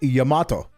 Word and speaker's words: Yamato: So yeah, no, it is Yamato, but no, English speakers the world over who don't know anything about Japanese do that, because they try to pronounce it like they would a word from a Romance language or some analog in English.